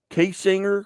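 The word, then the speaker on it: Kaysinger: Coming off a 26-point victory over Otterville a couple of nights ago, now getting ready to start the K-Singer Conference Tournament. Did I pronounce that correctly?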